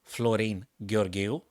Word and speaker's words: Florin Gheorghiu: the first Romanian Grandmaster on his original pronunciation name Florine goril I know that because I myself am a native speaker of Romanian so that's how you pronounce it at that time he